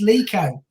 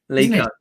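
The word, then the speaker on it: Leko: It was a cross from, I don't know, Lico, is that? I'm going to be, and Joe, we have to pronounce his name properly. It's Lico. Lico.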